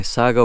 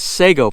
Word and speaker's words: sago: when my sago my sago palms or what we call them in the u.s sago palms uh the a is pronounced ah over here in the philippines so since we're in